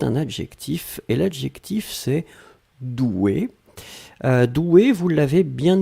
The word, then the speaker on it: douée: Là, on rajoute juste le e mais la prononciation reste la même.